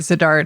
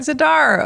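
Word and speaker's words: Z'Dar: descriptor of like I don't know a Robert Zadar type. I I will Robert do all the baseball references I can. Robert Zadar. Oh, no. The kids don't know Robert Zedar.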